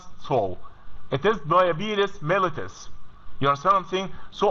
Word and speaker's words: diabetes: mentioned diabetes it is not it is not pronounced Soul it is diabetes mellitus you are something so I advise you